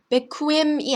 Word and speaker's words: bequem: Die Quote, die Quote, 쿼트가 아니라 쿼트라고 읽습니다. bequem, 어떤 가구 같은 게 되게 편안하다 이런 뜻의 형용사예요. bequem, bequem, bequem이 아니라 bequem이라고 소리나는 점.